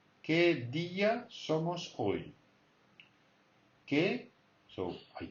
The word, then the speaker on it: día: ¿Qué día somos hoy?